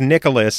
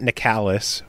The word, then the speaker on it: Nicalis: By the way, it is Nicalis, not Nicalis or Nicalis. It is Nicalis. Oh, so you finally figured it out. Yes. The Ryan from Nicalis informed me.